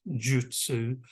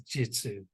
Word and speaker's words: Jyutsu: the spelling is j-y-u-t-s-u well it is actually pronounced Jutsu but it's actually the Japanese pronounced Jutsu but we actually say it as jitsu so it's in fact Jin shin jitsu and